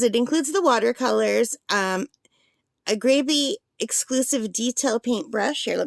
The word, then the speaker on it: Grabie: I've heard it pronounced GRABIE. But phonetically, that would be the long A because there's only one B. There would have to be two B's for it to be GRABIE. So it should be pronounced GRABIE, I guess.